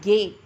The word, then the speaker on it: Gay: Next, then comes horizontal strokes, K and gay. This is not G. We have to pronounce it as gay.